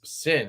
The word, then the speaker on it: Syn: I did not carry the sign. I carried this Sin. I always want to say sign because it's spelled with a Y.